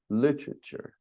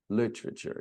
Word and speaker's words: literature: Literature. Literature. Now, the British even say literature, something like that. And history. History. We don't say the E in literature, the first E, and we don't pronounce the O in history.